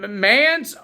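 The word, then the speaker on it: Mance: wait this long for mans Warner I I want to call him man but it's mans it's freaking M an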